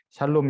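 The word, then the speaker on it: שלום: 그 히브리어는 큰 글자로 써 있는 게 자음이고요. 작은 글씨로 아래쪽에 써 있는 거 또는 그 왼쪽에 보면 점 하나 찍혀 있는 저런 게 이제 모음입니다. 그래서 저걸 이제 샬롬이라고 읽고요.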